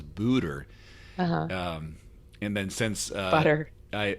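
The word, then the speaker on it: Buder: The first time I saw her name, I said Madonna Butter, because Budder. I didn't know it was Booter.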